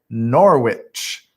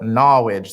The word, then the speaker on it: Norwich: in a place called norwich some call it knowledge there's like this accent in this city and that's how they say it norwich connecticut uh it's